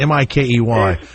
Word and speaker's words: Mikey: Is it Mikey or Mickey? How do you say M-I-K-E-Y?